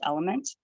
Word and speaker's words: LMNT: And I found one called LMNT, which I think is pronounced element, but it's just the letters LMNT.